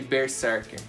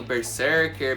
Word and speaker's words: Berserk: Para alguns aí a pronúncia pode mudar um pouquinho, Berserker, Berserk, Berserk, Aí, galera, varia muito e, sinceramente, eu não sou de ficar cobrando pronúncia de mangá japonês, né? Acho que cada um faz a pronúncia do jeito que gosta. Pra mim é Berserk, foi assim que eu